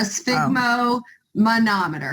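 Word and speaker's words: sphygmomanometer: your blood pressure cuff it's a sigmo manometer is how you say it so you just want to take this sigma and then it's just a manometer okay okay all right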